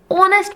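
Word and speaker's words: honest: फिर बात करते हैं एन ऑनेस्ट पर्सन।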